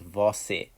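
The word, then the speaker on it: você: formality to and then we have vosse okay so it's vosi and this is the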